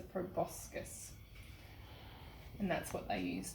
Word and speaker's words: proboscis: I think I pronounced it wrong though. The bee's tongue is called a proboscis, not a proboscis, a proboscis.